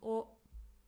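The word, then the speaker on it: を: Particle o. O. This is a grammatical object marker. It marks our grammatical object. Although we write it as wo, we pronounce it as o.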